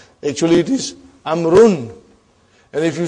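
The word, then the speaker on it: عمرو: It is not pronounced. It is only written. Why? Just to differentiate between these two. Actually, it is Amrun.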